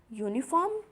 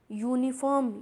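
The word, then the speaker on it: uniform: क्योंकि यहाँ पर आपका यूनिफॉर्म या साउंड क्या आ रहा है, कॉन्सोनेंट का आ रहा है ना, वाई का, या।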